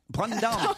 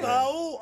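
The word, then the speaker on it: Brandão: un courant qui était contre les arrête, c'est prononciations. n'importe Alors, apprenez-moi au moins pour Brandao, je dois dire comment en brésilien alors Brandao. Ah, c'est génial quand tu fais l'accent brésilien. Brandao. Mais non, pas Bao, hein.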